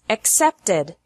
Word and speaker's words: accepted: The past of accept is accepted. Accept has 2 syllables, and accepted has 3 syllables.